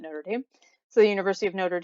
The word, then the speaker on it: Notre Dame: Here in the United States, we pronounce it Notre Dame.